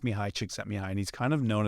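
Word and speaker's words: Csikszentmihalyi: experience and you'll see it's it's Mii it's pronounced Mii chicks at mihi and he's kind of known as The Godfather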